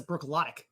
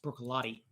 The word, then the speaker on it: Bruichladdich: in their classic lottie it looks like it says brook lotic but they insist that it's pronounced broccolotti be sure to hit